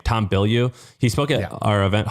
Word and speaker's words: Bilyeu: Tom Bilyeu.